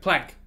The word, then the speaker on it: Planck: They're asking him, so how do you pronounce it? And he's like, plank. I'm like, oh, but I think, you know, we pronounce it plunk. I think it should be pronounced plunk.